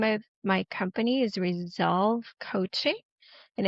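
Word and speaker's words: Resoulve: So, the name of my company is Resolve Coaching. And it's spelled r e s o u l the word soul is part of that v e.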